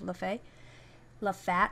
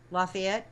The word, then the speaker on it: Lafayette: oil Center City of Lefay laat or how do you say that name that City in Louisiana um Lafayette yeah that's it sorry anyway which was